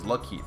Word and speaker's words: Lakeith: the credits it says Lakeith Stanfield. A lot of people are saying Lakeith Stanfield. I apologize if I've been pronouncing his name wrong. I just didn't know it was Lakeith.